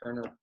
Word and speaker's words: Koerner: that's where i post everything so just kerner music on instagram and facebook and then also my my personal page i post a lot on that it's just kerner on facebook as well so um yeah we